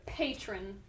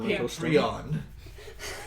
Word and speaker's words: Patron: small town Jeff yes it's Patron not patreon I'm okay with you